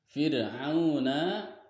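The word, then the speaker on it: فِرْعَوْنَ: Fir'auna di sini ada mad tabi'i juga dipanjangkan dua harokat karena wawunya posisinya mati didahului dengan huruf ain, maka panjangkan dua harokat.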